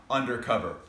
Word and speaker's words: UNDERCOVER: brands of all time undercover which if pronounced correctly is actually pronounced under cover we're going to be